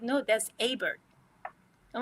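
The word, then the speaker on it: Hebert: So I called it Hbert. They said no, that's Hbert.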